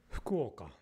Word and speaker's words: 福岡: アクセントアクセント Fukuoka.